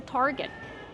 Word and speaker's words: target: right this is a target Kevin how do we pronounce Target use the r sound like car and far Tar Plus the hard GG sound Target not Target it's